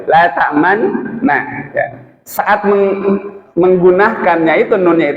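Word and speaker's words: لا تأمنا: Bacanya itu harus dimonyongkan dulu. La ta'manna.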